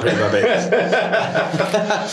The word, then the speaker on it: Pretty-Babs: I am pronounced that right, aren't I? Yes. Or is it Babes? No, it's Pretty-Babs. Right. No, it's not Pretty-Babs.